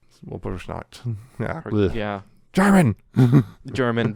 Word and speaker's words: Walpurgisnacht: witches themselves after defeating Walpurgisnacht. Walpurgisnacht. Yeah. German. German. The W is supposed to be pronounced like a V.